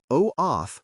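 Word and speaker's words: OAuth: Pronounce OT for OOTH and OIDC for OIDC.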